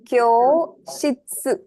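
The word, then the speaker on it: 教室: Kyoshitsu. Okay, kyoshitsu. Hi, repeat after me. Kyoshitsu. Kyoshitsu. Hi. So you have kyo, elongation, shitsu, kyoshitsu.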